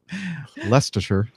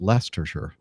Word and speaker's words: Leicestershire: es te R SH er as we now pronounce it but you are looking at shoot Leicestershire and saying okay so it's hard to read